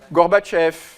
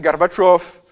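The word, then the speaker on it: Горбачёв: Kchef et plus tard Garbatchov est devenu Gorbachev alors que son nom c'est Garbatchov.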